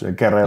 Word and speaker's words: Guerrero: Took me like 5 years to learn how to say that. So I'm going to say it like a couple times. Guerrero. You said it right. You're good. Yeah, that's right.